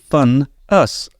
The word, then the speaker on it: Van As: Well, it's spelt Van As, but pronounced Fun Us.